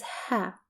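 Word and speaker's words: ها: which is her and it's pronounced as ha in Arabic and it's represented by the letter ha plus ah an example for it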